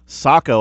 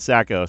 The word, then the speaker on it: Saco: to Pleasantville coach Chris Saco I've been apparently I've been saying his name wrong Sam rodeo jr. sent me a text hey man it's a hammington thing it's it's Saco not Sacco somebody sackers I just